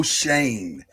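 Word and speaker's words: Schoen: off by saying this our gm is joe shane it's taken me a while to figure out how to pronounce that because it is not spelled like that at all it is very freaking confusing our head coach is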